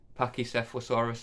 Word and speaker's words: Pachycephalosaurus: Pachycephalosaurus, I believe that's how you say it.